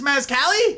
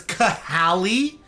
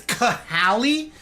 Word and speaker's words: Cahali: How did you get roped into this mascali? Also, am I pronouncing your name correctly? Don't you're like, um, actually, it's Cahali. Excuse you. There's an H in there for a reason. It's Cahali.